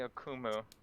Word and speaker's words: Akumu: You can call me Akumu. In my language, it means nightmare. Oh, that's excellent. Akumu? Did I pronounce that right?